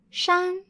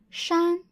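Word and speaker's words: 山: What is the pronunciation of this character? Yep, that is shan, shan.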